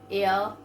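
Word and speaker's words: heir: Okay, they are air, this. So here H is silent.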